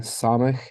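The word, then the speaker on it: סמך: as in nail and samik is pronounced S as in snake and then ayin which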